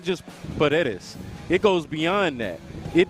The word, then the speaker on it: Paredes: I'm not going to try it, but I'm going to go with your pronunciation. Paredes. I killed that. You did kill that. Paredes. How about that? What's up? Paredes, right?